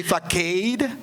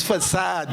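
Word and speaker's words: façade: Years ago, I used to say facade. And my New York-born son say, what? It's facade, Dad.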